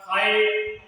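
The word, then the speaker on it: height: क्या रह जाएगा साइलेंट तो जी एच इसमें क्या रह रहा है साइलेंट रह रहा है तो ये क्या हो गया हाइट अब है लाइट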